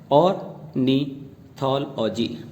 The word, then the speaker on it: ornithology: इसके बाद हमारा दूसरा वर्ड है ORNITHOLOGY, जिसकी प्रोनाउंसिएशन है ऑर्निथोलॉजी। इसको हम गलत तरीके से तोड़ते हैं और हम इसको पढ़ते हैं ऑर्निथोलॉजी। इसको 2 पार्ट्स में ना तोड़ करके आप इस तरह से बोलेंगे ऑर्निथोलॉजी।